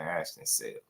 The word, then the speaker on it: Ashton Sill: I thought it was Silly, but they was pronouncing it Ashton Sill.